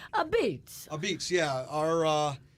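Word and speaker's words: apizza: story behind the name so uh when you pronounce it it's a beats a beats yeah our uh you know it's it's a p i z Za so people say a pizza or or or all that so it it's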